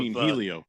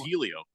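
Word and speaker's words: Hélio: four times one of Helio it's it's well it's you don't pronounce the h it's just kind of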